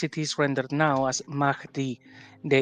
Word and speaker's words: Mahdi: Mahdi, by the way, it's pronounced Mahdi because, like you said, you have the diacritic on the final D here, right? So you actually pronounce it Mahdi, right?